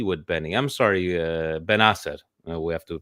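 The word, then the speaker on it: Bennacer: I'm sorry, Ben Asser. We have to pronounce it correctly, Algerian name.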